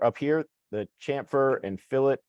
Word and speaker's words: fillet: We're going to go straight to a part feature, which are up here, the chamfer and fillet. Let's pronounce fillet, not fillet.